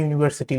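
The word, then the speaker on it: university: ব্যবহার হয়, অনেকেই এন ইউনিভার্সিটি লিখে থাকে, বাট ওইটা ভুল, কারণ ওইখানে আপনার ইউ এর উচ্চারণটা ওয়াই এর মতো হচ্ছে, যার কারণে সেখানে এ এর ব্যবহার হয়ে থাকে, যেমন এ ইউনি, এ ইউনিভার্সিটি।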